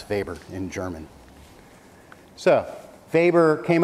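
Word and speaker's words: Weber: I say it is vber because it's a German name and that's how you pronounce vber in German so vber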